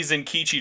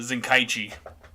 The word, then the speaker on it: Zenkichi: I want Japan to have more involvement in translation stuff, because we're just lucky Zenkichi didn't turn into Zenkaichi. Well, it's not spelled Zenkaichi; it's spelled Zenkichi.